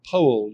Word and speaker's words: Powell: Anthony Powell, you'll note I'm pronouncing it. Powell was so snooty that